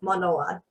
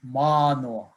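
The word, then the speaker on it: Mānoa: explain how to pronounce manoa there's a line over the a which is a kahako so it's you elongate the a so it's ma i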